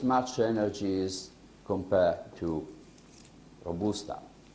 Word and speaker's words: Robusta: energy as compared to Robusta. I should say Robusta in English. I prefer the Italian pronunciation, so I say Robusta.